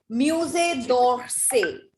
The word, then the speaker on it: Musée d'Orsay: Now, I'm not saying d'Orsay. What am I saying? Musée d'Orsay. K, a little k sound in between. And double E are silent. Double E is pronounced here as musée.